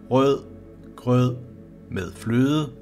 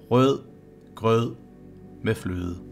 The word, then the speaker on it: rød grød med fløde: This should help you to be prepared in pronouncing the words correctly. And remember, it is the one rød grød med fløde that is the most common one. Rød grød med fløde.